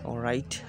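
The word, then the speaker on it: write: যেমন ডাব্লিউ এর পরে এইচ অথবা আর থাকলে ডাব্লিউর উচ্চারণ হয় না।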